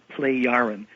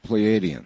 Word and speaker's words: Plejaren: Well, what we're told are that they are people who we now are told are called Plejaren, spelled Plejaren. Not Pleiadians.